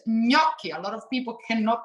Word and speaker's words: gnocchi: you said it nicely it's not ganachi agonochi he's gnocchi a lot of people